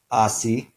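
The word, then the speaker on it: aasi: a word that way for example in Finnish they have the word for donkey ah si and the word for butterfly pear Honan and the word for distance volley matka where each of those first syllables is stressed because in Finnish this dress is always on the first syllable of a word so in Finnish if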